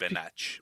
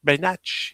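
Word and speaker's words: Benák: I think it's pronounced Just Benach, but yeah. Benach, yeah, it could be Benach too.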